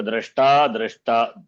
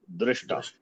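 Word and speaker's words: द्रष्टा: It is drashta or drishta. Drashtri. Even some acharya, they say it wrongly. I don't want to tell the name. Huh? The drashta is the they will say drishta, mantra drishta, not drishta.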